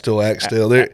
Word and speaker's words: Axtell: Axtell. Axtell. Man, I told people there's no right or wrong way to pronounce it, because, man, I've heard, I think, 10,000 different pronunciations over the years.